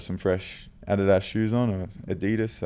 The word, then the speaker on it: Adidas: Adidas. I don't know what the pronunciation is out here. Adidas. We say it in Australia. It's a Adidas. Adidas.